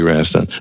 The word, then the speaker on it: Rast: We got uh Kitty Raston. Am I pronouncing your last name correctly?